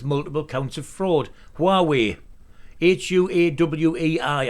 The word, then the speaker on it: Huawei: counts of fraud huawei h-u-a-w-e-i i think it's pronounced huawei but that's the way i